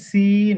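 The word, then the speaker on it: سين: এটা বলেন জি এটা সি এটা হচ্ছে সিন জি শি জি স দ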